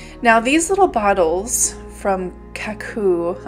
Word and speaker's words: Kakoo: Now these little bottles from Kakoo, I think is how you say it, K-A-K-O-O, little needle nose bottles, decided